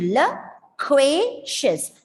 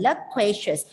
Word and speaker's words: loquacious: So you can see the schwa sound on the first and the last syllable, reducing it to loquacious. The stress is on the middle syllable, loquacious.